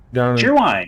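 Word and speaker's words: Cheerwine: Is it pronounced Sherwine or Sheerwine? Sheerwine, yeah.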